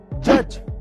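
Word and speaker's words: judge: Number one, अगर किसी word में जी से पहले डी आए तो उसमें डी साइलेंट रहता है, जैसे कि ब्रिज, जज, नॉलेज।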